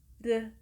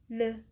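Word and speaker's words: ㄹ: The pronunciation can be pronunced as "R" or "L" in Roman Alphabet. then, the sound became "Reu", "Reu" or "Leu", "Leu" In order to sound "R" or "L",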